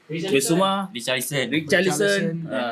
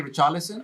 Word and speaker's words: Richarlison: Richarlison. If you say English, I say Richarlison. Richarlison. But I've spoken to some Brazilians. They don't really say the letter R. Oh. It's like almost like an H. Richarlison.